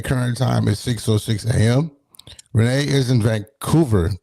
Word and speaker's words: Rennie: You said it's Rennie. Lots of people say Renee all the time, but I get called Renee all the time because that's it's kind of the much more known pronunciation. Mhm. Especially in Canada, it's like a known French name.